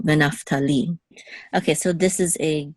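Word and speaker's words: וְנַפְתָּלִי: So the accent is on venaftali, the last syllable, venaftali.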